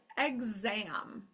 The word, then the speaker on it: exam: Okay, listen to the word exam. Exam. What does the first syllable say if I say exam? It says eggs, right?